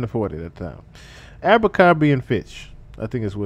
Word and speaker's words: Abercrombie and Fitch: How do you say just the goddamn word? Abercrombie and Fitch. Oh, I said it right. So Abercrombie and Fitch. Okay, I was just guessing and said this shit right.